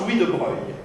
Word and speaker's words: Louis de Broglie: trick by itself, because his name is Louis de Broglie, but it's pronounced Louis de Broglie. It has a completely different pronunciation than the spelling, but except for that,